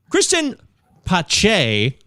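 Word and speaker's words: Cristian Pache: does this name come from all right so kristen pache that's how you say it folks i consulted the pronunciation guide book that chris marr gave me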